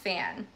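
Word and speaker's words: Pfann: It's by Paul, I think it's pronounced Fan, P-F-A-N-N.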